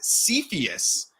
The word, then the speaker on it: Cepheus: the project that we're talking about today is cepheus is how it's pronounced so I'm excited to talk through this